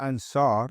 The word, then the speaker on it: Ansar: The word Ansar, as you can hear the word phonetically to the word answer, so we were known as Ansar, which you can hear phonetically as Ansar, yeah?